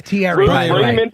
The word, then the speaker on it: Thierry: Especially if you say his name wrong to him. What's his name? It's Thierry. You keep saying Thierry.